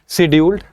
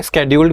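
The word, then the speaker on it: scheduled: ठीक है, और क्या कहते हैं उसको, शेड्यूल्ड। ठीक है, स्केड्यूल्ड भी कह सकते हो इसको, शेड्यूल्ड भी कह सकते हो, अलग अलग प्रोनाउंसिएशन है।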